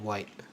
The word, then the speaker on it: YT: Like how are we supposed to know that we're supposed to pronounce the first letter as an individual and then connected with sounding out the T?